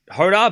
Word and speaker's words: Jodar: You pronounced Hoda correctly.